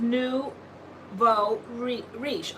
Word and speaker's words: nouveau riche: Let's see, it's pronounced Nouveau Riche.